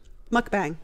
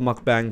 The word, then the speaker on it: mukbang: I listened to the pronunciation on the computer a few times so I could say it right. Mukbang.